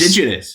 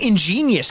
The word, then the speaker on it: indigenous: again introducing a sketch not understanding what or how to say the word indigenous indigenous it's in he keeps saying ingenious can someone not correct